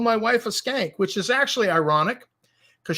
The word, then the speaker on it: Schenk: And they named a school after him, and his name is SCHENK, and it's pronounced Skank.